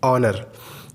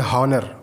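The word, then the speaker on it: Honor: जैसे honesty, ऑनरेडी, ऑनर। जो mobile आता है हम उसको बोलते हैं, कुछ लोग बोलते हैं हॉनर, वो हॉनर नहीं, एच साइलेंट होता है।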